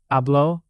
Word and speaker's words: Habló: Habló with an accent on the O means he or she talked.